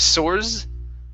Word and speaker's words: source: the word Source okay this is an unvoiced S instead of source okay this is source source source okay very nice uh